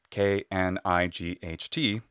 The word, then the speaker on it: knight: In modern English, we write the word knight, K-N-I-G-H-T, but we don't pronounce it as in Middle English. Well, that pronunciation was something like knicht, and we pronounce it knight.